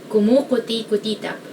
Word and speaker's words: kumukutikutitap: So I guess the hard part of this is the vowels, because it's mostly u, but there's I and somewhere. Kumukutikutitap. I guess the only way to pronounce this is to remember all the syllables.